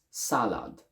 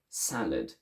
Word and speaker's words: salad: one as well so i would say something like salad in english however because the first syllable is stressed and the second one isn't the second one is shortened so we say salad let's go back to